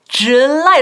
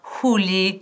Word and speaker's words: July: pronunciación de July, July, July. Repítelo más, July, porque aunque crees que te tienes grabado, siempre sacamos July o Juli, no, J, J, July, casi como una CH, July.